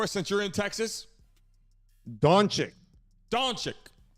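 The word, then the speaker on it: Dončić: Brent, you want to pronounce his last name for us since you're in Texas? Doncic. Not to be confused with Doncic. No, Doncic.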